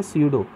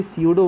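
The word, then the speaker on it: pseudo: मतलब ये feet actual में नहीं है, इसलिए यहाँ पे नाम जुड़ गया स्यूडो। बायोलॉजी में जहाँ पे भी स्यूडो वर्ड आ जाए, टी साइलेंट है यहाँ पे, उसका मतलब होता है फॉल्स।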